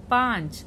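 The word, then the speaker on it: पाँच: 5 பாஞ்ச். பாக்கு வந்து பாச்சுன்னு படிக்கக்கூடாது, பாஞ்ச். பாக்கு பின்னாடி லேசா அந்த நுனி மூக்குனால லேசா ஓசை எழுப்பணும், பாஞ்ச்.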